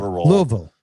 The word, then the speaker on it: Louisville: Two syllables. Louisville.